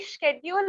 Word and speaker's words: schedule: schedule is American accent and schedule is British accent.